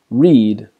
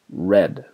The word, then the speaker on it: read: nothing happens to them but that pronunciation changes for example read becomes read so these are irregular verbs